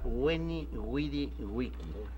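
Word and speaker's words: Veni, vidi, vici: Se supone que sonaba Weni, Widi, Wiki.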